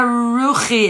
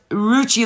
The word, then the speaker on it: Ruchi: Oh, it's not Ruchi. It's pronounced Ruchi like Gucci.